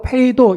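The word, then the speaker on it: πείθω: 번 반복해서 나오고 있지 않습니까 빠르다라는 말은 헬라어로 페이도 이렇게 발음을 하는데 여러분이 페도라는 말은 두 가지 의미가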